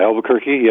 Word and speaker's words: Albuquerque: kirk wah new mexico i think it's pronounced alba kirk wah Steven you there yeah albuquerque albuquerque right yeah yeah I just